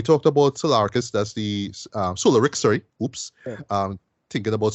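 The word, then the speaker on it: Solaricks: Solarix, sorry, right? That's the pronunciation, right?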